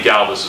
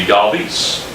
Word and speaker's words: Galvis: So Freddie Galvis is our shortstop, and it's pronounced, from what I understand, and I could be way wrong, is Galvis. That's how you're supposed to pronounce his name. So when he came back up to the big leagues a couple years ago, he wanted it to be Galvis.